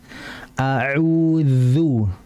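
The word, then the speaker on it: أعوذ: Yang pertama, fokus pada huruf dzal. Ya, huruf dzal ini merupakan huruf yang keluar dari lisan. Lisan itu apa? Lidah. Bagaimana cara pengucapannya? Yaitu apa? Ujung lidah yuhadhihi mina atsanaya al-ulya, diapit oleh ujung gigi seri atas. A'udzu. Jadi diapit ya. Kalau enggak khawatir nanti kayak dal.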